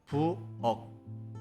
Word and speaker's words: 부엌: In this case, the final consonant 키읔 should be pronounced as the representative sound G. So it becomes 부엌, not 부엌.